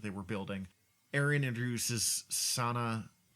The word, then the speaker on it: Sana: Aaron introduces Sana, I think it's pronounced Sana, Sana, Solo, who is a woman